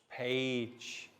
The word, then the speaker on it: page: cage giraffe giant stage page notice how the g sounds like j and this is